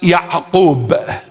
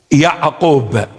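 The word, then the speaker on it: ܝܥܩܘܒ: In the original text, in the original language, or in Syriac Aramaic, it is pronounced Ya'qub. Ya'qub. An. Ya'qub.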